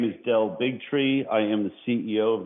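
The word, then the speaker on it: Del Bigtree: Bigtri, please state your affiliation and proper pronunciation of your name. My name is Dell Bigtri.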